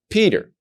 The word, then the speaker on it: Peter: When you have the dot in the letter Pei, you're going to pronounce it as Pa, like Peter.